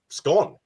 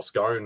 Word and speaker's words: scone: it looked like a very thin scone or scone however you want to sort of say it right and that's what